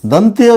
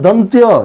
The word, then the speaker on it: दंत्य: और यदि विसर्ग के बाद दंती स हो, दंत्य इसको कहते हैं, दंती हम लोग बोलते हैं, शुद्ध उच्चारण है दंत्य, इसका शुद्ध उच्चारण है तालव्य।